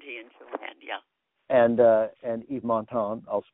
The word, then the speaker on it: Yves Montand: And Yves Montand, I'll pronounce it right this time, in Grand Prix, and then.